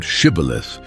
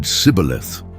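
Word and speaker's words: Shibboleth: Only those who could correctly pronounce the word Shibth were allowed to pass. But the Ephraimites, because of their accent, said Cibilith, and that was enough.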